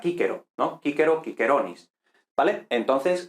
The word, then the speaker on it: Cicero: Entonces, por ejemplo, el famoso Cicerón, que en español decimos Cicerón, los italianos dirían Cicerone, pero en latín clásico sería Cicero, o sea, Cícero, ¿no?